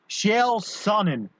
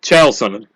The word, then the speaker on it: Chael Sonnen: Oh, no, I want to see how you pronounce it. Chael Sonnen. Close. Chael Sonnen. All right, Chael Sonnen.